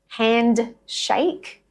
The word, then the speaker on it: handshake: Handshake becomes handshake.